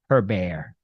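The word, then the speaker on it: Hébert: Canadians and uh I love Chantal I even pronounced her name correctly her bear the heated back and forth continues at City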